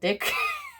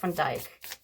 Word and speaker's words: Van Dyke: He said in one of his YouTube posts that it was not called Dick, but it was spelled like or pronounced like Dyke. Jeff Van Dyke.